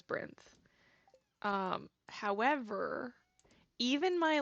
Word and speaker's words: Byrinth: Brin behavior um also a lot of people say my username as rinth I said it I pronounce it brenth I would say that the correct way to pronounce it is Brin um however even my